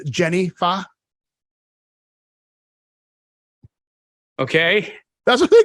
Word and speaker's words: pho: It's a soup, but it's PHO. Okay. You pronounce it pho.